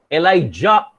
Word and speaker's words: Elijah: and his mantle falls on his son elisha elijah is pronounced is spelled as j-a-h e-l-i-j-a-h and elijah